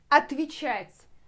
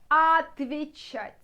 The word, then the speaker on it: отвечать: Отвечать, to reply, отвечать. So, starting from отвечать. But when you spelled it. But when you pronounce it, starting from отвечать, отвечать, like even е will transform to и.